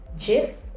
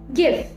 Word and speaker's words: GIF: word should be pronounced is it jif or gif according to the oxford dictionary they prefer give gif i saw a funny